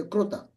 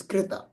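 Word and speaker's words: कृत: Okay, so you will see all the people from Gujarat and Maharashtra, they always say kruta.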